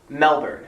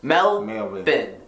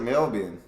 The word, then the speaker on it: Melbourne: do not call the city in the South Melbourne that's not how they pronounce it there in Australia it is Melbourne Melvin not why is it melbin it's spelled milber I'm from Melvin Melbourne locals